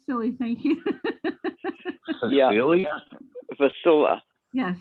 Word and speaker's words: Facilla: It's sort of funny because Jack calls her Felicia. I don't know why. That's okay. I have had the most craziest pronunciations of my last name. The worst one was Fakala, so come on.